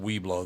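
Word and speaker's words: Webelos: No, it was just pronounced Weeblo, though.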